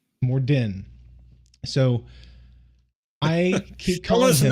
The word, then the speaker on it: Morden: So Morgan. Morden. D-E-N. Morden.